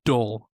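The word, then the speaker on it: dhole: A D-hole. D-hole? Yeah, it's spelled D-H-O-L-E. It's probably dull, but I call it a D-hole.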